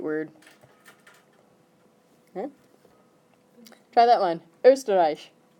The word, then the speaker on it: Österreich: Österreich. Should we put a pronunciation guide on that one? How about stir, rye. Does that help? No. Österreich. That work?